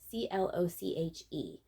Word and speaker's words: cloche: inside and this is vintage brown fur cloak c-l-o-c-h-e i always pronounce that cloche this hat is the only